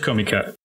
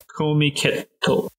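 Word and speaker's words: Comiket: Depending on when I go, I've always wanted to go to a thing called Komiket. I might have said it wrong. Yeah, it is Komiket. Komiketo.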